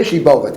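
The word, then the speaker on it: שיבולת: Say Shibolet. Can you say Shibolet? They can't say Shibolet. They can't pronounce it.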